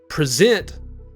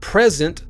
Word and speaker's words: present: So, for an example, the word present is spelled just like present, but they're stressed differently. On present, zent is stressed, and on present, pre is stressed.